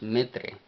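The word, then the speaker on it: ምድር: pronunciación en el vocal así es que tenemos metro casi como madre metro y metro como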